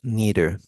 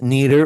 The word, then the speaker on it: neither: it's negative you use neither this is pronounced neither or neither you could use both of those pronunciations okay so actually has